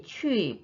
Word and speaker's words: 去: 别去跑步了别去跑步了 이때 취도 우 입모양 유지합니다.